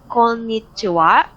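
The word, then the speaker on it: こんにちは: formal than ohio so good afternoon we have konnichiwa so please take notes it's written by ha hitanya in hiragana but pronounced aswa right comunan and romalje are so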